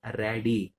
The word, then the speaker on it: radii: So singular form ఉంటే రేడియస్ అంటాం, బట్ ఇక్కడ r1 r2 రెండు ఉన్నాయి కాబట్టి we have to pronounce it as radii.